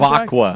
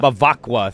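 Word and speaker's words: Bevacqua: Pete Bakva. Bakoa. Bakawa. How do you say his last name? Bakqua. Bakqua. Thank you.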